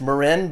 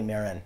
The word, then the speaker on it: Marin: Sometimes pronounced Marin, but it's actually Marin. Okay, Marin.